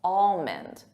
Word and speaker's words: almond: For native speakers, I hear almond, al, but it's not al, it's all. Almond, almond. And the emphasis is on that all, almond.